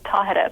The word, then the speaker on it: Tahereh: them how to say my name, which is Tahereh, by the way.